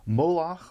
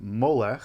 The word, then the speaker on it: Moloch: Moloch, or Molech, the Masoretic and the Septuagintal/Vulgate traditions of the biblical text actually contain two distinct ways of pronouncing this name, has become among the most horrifying of the demonic deities.